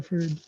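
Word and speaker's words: Freud: ये फ्रीड नहीं है, ये फ्राइड है, वर्ड फ्राइड, सिगमंड फ्राइड।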